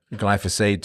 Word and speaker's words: glyphosate: So now is it glyphosate, glyphosate? I'm just going to go with glyphosate. Seems to be the standard pronunciation.